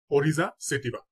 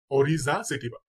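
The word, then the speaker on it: Oryza sativa: কয়েকটি জীবের বৈজ্ঞানিক নাম দেখে নেই এবং তাদের উচ্চারণ গুলো দেখে নেব ইনশাল্লাহ ধানের বৈজ্ঞানিক নাম হচ্ছে অরিজা সেটিবা অরিজা সেটিবা তারপর পাট পাটের বৈজ্ঞানিক নাম হচ্ছে কর্কোরাস কর্কোরাস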